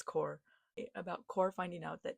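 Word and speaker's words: Xcor: Like the scene in Lover Unleashed when Core Score, I pronounced it score, but apparently it's Core.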